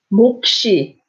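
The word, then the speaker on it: 몫이: So by itself, you would say 목. But if there's an ing next to it, you pronounce both.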